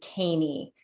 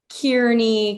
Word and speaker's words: Keany: I was growing up, my maiden name is Caney. And it's spelled Keany. And so I was constantly correcting people who thought it was Kearney, Carney, Keeney, and got so frustrated